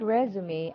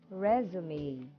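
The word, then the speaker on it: résumé: that you are qualified and hireable the word resume actually originated from france and it means summary it is pronounced as resume okay everybody please say resume again all right so it is pronounced as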